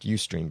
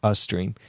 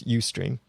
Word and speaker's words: Ustream: And it's pronounced Ustream, by the way. I heard someone pronounce it Ustream, but it's Ustream.